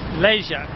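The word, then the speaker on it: Lezhë: Okay, it's not Les, it's Leja. That's the correct pronunciation.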